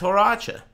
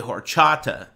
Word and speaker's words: horchata: Cinnamon Toast Crunch that's haracha it's very good it's a ancient traditional um I'm pronouncing it wrong too because this dude on murder stream pronounced it that way it's actually horchata but this dude on